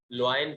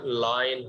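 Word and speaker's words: line: اسی طرح پڑھایا جاتا، لوائن پڑھتے تھے، اس کو لوائن پڑھایا جاتا تھا پہلے، لیکن بہرحال اس کی اسپیلنگ اسی طرح ہے لکھی ہوئی، لیکن پڑھنے کے اب جو اس کی پڑھتے ہیں، وہ پڑھنے کا، اس کو بولنے کا انداز جو ہے وہ لائن ہے۔ تو وہ بتا رہے،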